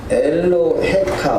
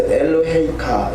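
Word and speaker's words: אֱלֹהֶיךָ: 맨 끝자에 보면 엘로헤카, 우리 보통 이렇게 엘로헤카 이렇게 읽거든요. 그런데 그 요드가 있을 때는 그 반음으로 해서 엘로헤이카 이렇게 읽는 것이 이제 정석입니다.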